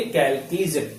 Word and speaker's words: Chalcogen: कैल्कीजन। ठीक है, प्रोनाउंसिएशन कैल्कीजन।